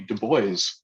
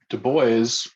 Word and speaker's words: Du Bois: But Du Bois insisted that his name was pronounced Du Bois, not Du Bois.